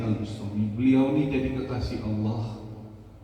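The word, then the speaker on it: al-Bustami: Bustomi ada yang bacanya Al bistomi boleh ada yang bacanya Al Bustomi boleh namanya Al Imam Abu Yazid Al Bustami beliau ini jadi kekasih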